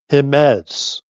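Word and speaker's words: Jemez: He wanted to correct me that uh you pronounce it with a H cuz it's Latin. Himemes Caldera.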